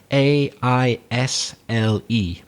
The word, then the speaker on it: aisle: Well, that space, that little big long line in the middle where you walk up and down, that's called the aisle, which is spelt A-I-S-L-E, but it's pronounced aisle.